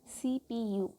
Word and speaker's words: CPU: CPU pronounced as separate letters. So we cannot call something like CPU. We can call with an individual words like CPU, right?